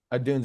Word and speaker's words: Odunze: How do you pronounce his name? Rome Odunze? Odunze, yeah.